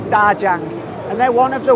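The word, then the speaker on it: 大疆: It's pronounced in Chinese, Djang.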